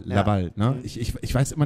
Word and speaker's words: Laval: Wie wird es richtig ausgesprochen? Laval. Laval.